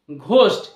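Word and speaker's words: ghost: এইচ ও এস টি ঘোস্ট এই যে ওয়ার্ডটি রয়েছে এর ফাস্ট লেটার দুটির মধ্যে জি এইচ রয়েছে এখানে জি এইচ এর যেটা উচ্চারণ সঠিক উচ্চারণ ঘ ঘ বাংলা ঘ এর মতো তো এখানে সেই প্রোনাউন্সিয়েশনটাই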